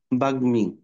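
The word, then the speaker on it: বাগ্মী: কারণ ও গ এর সাথে হচ্ছে ন, দন্তন্য, গ, ল এই তিনটার সাথে হইলে ওই ম ফলার সাউন্ড উচ্চারণ করতে হয়। তেমনিভাবে এখানে দেখো। বাগ্মি হুম, ব এ আকার গ এ এ এর এ এর এ এর এ ম এ আকার।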